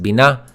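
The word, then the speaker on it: בינה: now the second word Bina we mentioned that BINA so it's pronounced Bina say it with me and it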